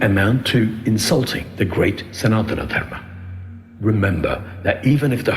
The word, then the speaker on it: Sanatana Dharma: It is not Sanatana Dharma, Mr. So-and-so, it is Sanatana Dharma.